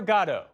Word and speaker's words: Godot: Waiting for Godot, yes, that's how it's pronounced, mixes high despair and low comedy to raise big questions about, well, the meaning of life.